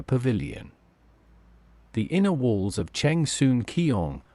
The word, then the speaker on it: Cheng Sun Kiong: The inner walls of Cheng Sun Kiong, the main hall of the temple, pronounced as Sheng Shun Gong in Mandarin, feature depictions of the